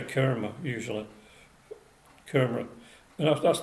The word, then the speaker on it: karma: do tend to say kerma usually camera you know that's that's the an indian couple that i saw at the at the weekend said that it's it's kermit you pronounce it karma so you know but